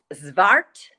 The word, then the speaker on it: zwart: name of the sheep it's a dutch breed and you have to think dutch so it's zvart which is black and blas which is blaze so it's black with